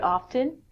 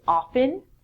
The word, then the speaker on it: often: Now, I would say this word often. I actually pronounce the T sound in it, but most people don't. In North America, people would say often.